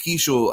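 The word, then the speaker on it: Keaschall: Uh Luke Kishel, I think, is going to be a a difference maker down the stretch.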